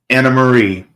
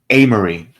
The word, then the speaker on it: Amarie: you oh my goodness anamarie I'm sorry amarie my apologies I mispronounced your name amarie says maybe they